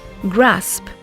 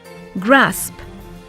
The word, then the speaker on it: grasp: Here's how the words are pronounced: grasp, grasp, crisp, crisp, lists, lists, chloroplasts, chloroplasts. They're a little tricky, aren't they?